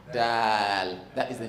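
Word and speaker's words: دال: This is Dal. I want you to pronounce it with that extension. Dal.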